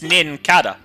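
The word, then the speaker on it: Nincada: It's Ninkada. It is a cicada. Ah, Ninkada.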